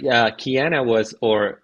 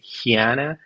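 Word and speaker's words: Chania: So some people say Hiana, other Kiana, Chiana in Spanish.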